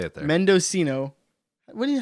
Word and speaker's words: Mendocino: end oh and that's how they say it Mendocino what do you how do you what do